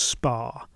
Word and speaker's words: Spa: Spore Valley the place was called, or perhaps that should be pronounced Spar, for it was a bathing place, a river or pool, sources are shaky, that ran through the valley.